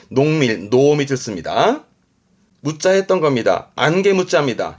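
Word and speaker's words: 濃密: 발음은 노미츠. 농밀하다라는 건 맛이나 색이 진한 걸 말하기도 하는데 뭔가 밀도가 높다라든가 아주 가까운 관계, 뭐 농밀한 관계다 그러면 뭔가 친한 아주 가까운 관계 말할 때 노미츠 씁니다.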